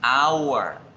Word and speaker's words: hour: sucede también en español, yo la escribo con H, pero se pronuncia es la vocal que viene a continuación, hour. Entonces yo debo decir es an hour. ¿Por qué? Porque la palabra se escribe con H, pero la H no suena en este caso.